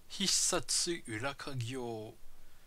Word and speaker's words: Hissatsu Urakagyou: Donc aujourd'hui, un petit jeu japonais d'action infiltration qui s'appelle Hissatsu Urakagyo. C'est comme ça qu'on prononce.